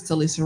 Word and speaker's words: Talisa: So I always pronounce, is it Talisa or Talissa? I think it's Talisa Ray. Talisa Ray, yes.